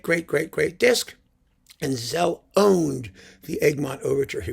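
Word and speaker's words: Szell: and says, oh, it's Cell. It's pronounced Cell in Hungarian.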